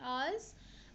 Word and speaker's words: hours: like before vowel, it is going to be ours, and here also honor. Okay. So uh, H here is pronounced as ours. It is a silent. Okay. H over here and over here is silent.